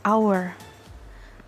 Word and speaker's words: hour: Lalu yang selanjutnya adalah an hour. Nah, walaupun our ini tulisannya tapi kita bacanya hour. Karena dibacanya hour, jadinya pakainya an. an hour bukan a hour.